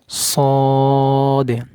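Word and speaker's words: ص: হা এটা স্বাভাবিক উচ্চারণ হবে হা এটা কি সদ সদ সদ শক্ত গোড়া উপর দিকে তুলে দিবেন শক্ত করে উচ্চারণ করতে হবে সদ সদ সদ মূলত এই দুইটি হরফে ভুল হয়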